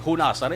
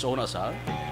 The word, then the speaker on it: Hunasan: Si Unasan silent H di ko na mag-pronounce po. Hindi, Hunasan, it's Unasan. Pero Unasan ko nun Unasan.